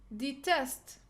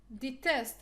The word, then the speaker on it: detest: stress on the second detest detest it's like design it's like divine so we will put the stress on the second syllable because we have short